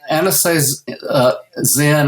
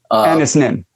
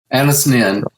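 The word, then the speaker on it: Anaïs Nin: There's an old quote, I think Anastasia Zen, I can't remember how to pronounce her name. Anis Nin. Thank you. Anis Nin.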